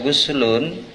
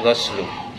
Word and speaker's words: ghuslu: Guslu ya bacanya bukan goslu. Kalau goslu itu membasuh, kalau guslu itu mengalirkan air, berarti menyiram.